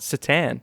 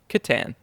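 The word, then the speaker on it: C'tan: uh so many people aren't sure how it's pronounced i've heard most people call it satan oh yeah but i've heard games workshop managers call it kittan yep so just wanted to give the listeners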